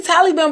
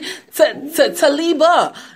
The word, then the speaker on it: Talibah: It's like I want to say Taliban, but it's actually Talibah.